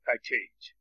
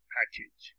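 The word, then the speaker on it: package: کنید اینم ایج نگید من خیلی شنیدم که دانشجوها این رو ایج میگن و حالا مردم عادی هم میگن پکیج پکیج این آپارتمان مثلا پکیج پکج ها این ایجی ای رو ایج تلفظ کنید در آخر واژه مثل انکر مثل پوست حالا من یه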